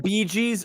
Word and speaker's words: Bee Gees: Barry It's not Bee Gees though. It's It's fucking BEEGEE. G-E-E.